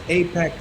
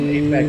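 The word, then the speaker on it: AIPAC: So, there's something known as Apac Tracker.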